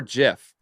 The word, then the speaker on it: GIF: room you're going to explain that it's jiff that's the original intention that it was meant for was to be pronounced that way you can get into